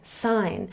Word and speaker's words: sign: or in this word because the G is before the N we say sign and remember that this